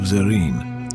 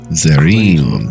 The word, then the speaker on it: Zarine: the entire continent of Zarine. Zarine. Man. All right, very good. I wanted to pronounce that right. Zarin did not sound particularly right.